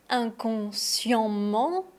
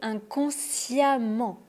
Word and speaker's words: inconsciemment: Est-ce qu'on dit inconsciement, inconsciemment ou inconsciemment ? La réponse est inconsciemment avec le son a.